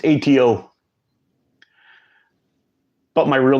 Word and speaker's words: ATO: list it'll be your pick how's my name pronounced it's atto but my real name is everyone calls